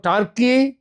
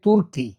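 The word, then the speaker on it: Türkiye: আবার এটাও জেনেছি একদা নামের উচ্চারণ হতো টার্কি। কিন্তু এখন উচ্চারিত হয় তুর্কি।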